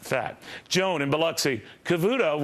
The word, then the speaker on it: Cavuto: fat Joan and bxy Cavuto rhymes with zero no it doesn't joh Cavuto zero it